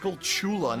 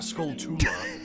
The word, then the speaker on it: Skulltula: People are saying it's pronounced Skullchula, not Skulltula.